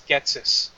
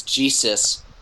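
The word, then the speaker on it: Ghetsis: So if I had to go by the spelling, I think it's Getsis, which is actually not all that hard to pronounce. I'm looking up his pronunciation. It seems like it's Jesus.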